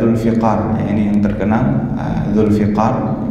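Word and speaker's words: ذو الفقار: Kemudian ada Ghadbu, kemudian ada Dzulfiqar, ya, ini yang terkenal, Dzulfiqar bikasrifa, ya, membacanya dengan kasrah, ya, huruf fa-nya, Dzulfiqar, atau juga bisa dengan fathah, ya, Dzulfaqar bisa juga.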